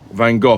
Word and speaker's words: Van Gogh: you're American it is Van Gogh not Van Gogh it's Van Gogh you pronounce the GH as f as in enough Van Gogh for anyway sorry I'm